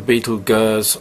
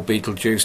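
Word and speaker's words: Betelgeuse: um off she goes down to Beetle G or Beetle Juice depending on what you want to uh choose as the pronunciation and there you go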